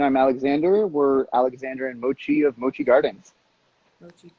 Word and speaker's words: Mochi: have a very special interview with alexander and moki the cat i'm not saying it right mochi mochi the cat out of mochi gardens in